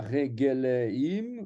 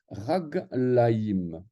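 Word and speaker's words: רגליים: Le regel, ce n'est pas regeleim ou quelque chose du style, non, on va dire raglaïm.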